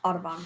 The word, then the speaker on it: Audubon: Forgot how to pronounce it. Audubon.